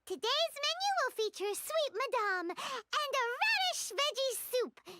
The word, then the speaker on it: madame: I thought we were making sweet madame, which I now know is not pronounced madam, good to know, and